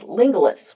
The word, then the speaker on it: Lingulis: found a gentleman named Lingulis, rhyming with Romulus.